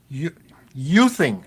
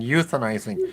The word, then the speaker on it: youthing: sorry, I just like youthing. That's the right way to say it. I kept saying euthanizing. It's youthing. Francine has encouraged us to youth ourselves. I want to keep saying euthanize. It's not right.